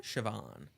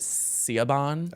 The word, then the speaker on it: Siobhan: How do you pronounce her name? Siobhan. It's very glamorous. Yeah, when I did a video for them, I accidentally pronounced it Cinnabon.